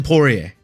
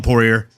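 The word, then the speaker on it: Poirier: He's going to mispronounce the name all month and call him Porer and then he's going to get knocked out.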